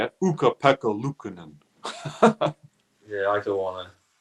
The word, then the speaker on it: Ukko-Pekka Luukkonen: Do you want to try and pronounce his name properly? Well, I can say it. Ukko-Pekka Luukkonen.